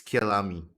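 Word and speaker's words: Kyalami: uh yeah for now let's just say it's kilami because that's what they say in aceto corsa competition so we're just gonna say that the same thing here it is it is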